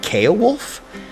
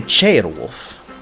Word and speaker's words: Ceolwulf: And I always said Ceolwulf, but they say Ceolwulf, with like a ch right there, which also goes